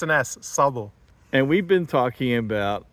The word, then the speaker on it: Szabo: the US and always had trouble with that scabo Mr Sabo zazo Sab everything whatever yeah it's an ass Sabo and we've been talking about a a ongoing